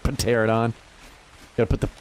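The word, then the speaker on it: Pteranodon: Some of them I say wrong on purpose, like Pterodon. Gotta put the P in there, dude. The Pterodons. How do you... A silent P in the beginning of a word's not really... That's not cool.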